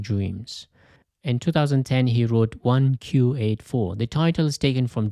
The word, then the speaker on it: 1Q84: In 2010, he wrote 1Q84. The title is taken from George Orwell's 1984. In Japanese, the letter Q and number 9 have the same pronunciation, so you can read it as 1984.